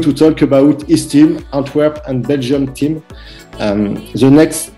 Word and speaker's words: Antwerp: Okay, it's Antwerp we pronounce.